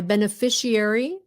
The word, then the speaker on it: beneficiary: Người Việt mình hay kêu là s, chứ không có muốn nói là sh. Nhưng quý vị nói được chứ không phải là không nói được.